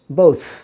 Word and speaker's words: both: Contribution বাতাসের চাপ হবে না, কিন্তু সা সাউন্ড উচ্চারণ হবে, স্পষ্ট বোঝা যাবে সেটা। যেমন BOTH, বোথ, বোথ আমরা বলি কি বোথ, এই বোথ যেন